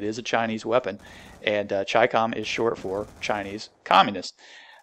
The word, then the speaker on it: Chicom: but I think the the way that you're supposed to pronounce it is actually chi-com and what that means